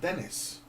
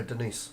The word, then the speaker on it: Denis: Is it not Dennis? No, Denise. Is it a woman? No. It's a guy. It's a guy. He's Pronounced French. Denise? He's Canadian French. Canadian French. French Canadian. Yeah, French Canadian.